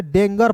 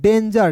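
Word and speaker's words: danger: बहुत लोग इसे डेंगर पढ़ लेता है। डेंगर नहीं पढ़ना है। ठीक है? क्या पढ़ना है दोस्तों? डेंजर।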